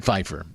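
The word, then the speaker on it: Pfeiffer: Dan Pyifer, spelled with a P and an F, pronounced Fifer. Don't know why the P. Can't you just do without the P? Dan Feifer.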